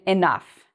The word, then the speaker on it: enough: So O-U-G-H, again, is pronounced like uff, in enough.